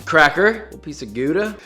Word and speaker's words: Gouda: Cracker, a little piece of Gouda. It's pronounced Howda!